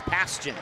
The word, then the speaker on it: Paskin: Paskin, Caden Paskin. Paskin. Yes, Paskin. That's how you say it.